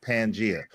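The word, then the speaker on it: Pangaea: Hey, first first of all, first of all, the crazy thing is it's pronounced pangia.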